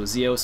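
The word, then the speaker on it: XEOS: So Zeos is spelled X-E-O-S, if you're wondering.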